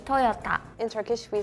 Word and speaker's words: Toyota: say Toyota we say Toyota with the T maybe it was me when I pronounced it I heard more like a D sound it's a